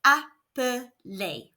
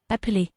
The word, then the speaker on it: appeler: One L after an E makes the E say and we know that ER is pronounced A, so this word is appeler. Let's hear it again. appeler, This is quite a